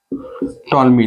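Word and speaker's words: Ptolemy: दिया था टॉलमी ने इसमें जो पी है वह साइलेंट है और इसको हिंदी में भी आप लिख सकते हैं टॉलमी ने ठीक है इसकी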